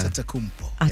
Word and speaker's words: Antetokounmpo: Antetokounmpo? Close. That was actually not bad. Yeah. Antetokounmpo.